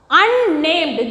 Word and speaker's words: unnamed: Okay, next one, unnamed. This also as like the unnatural, unnamed. So, both consonant, both N is pronounced here.